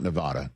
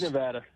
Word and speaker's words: Nevada: I learned a long time ago it's not Nevada. Don't say that. And don't say Oregon either. Bad news. It's Nevada. Uh, it's Nevada.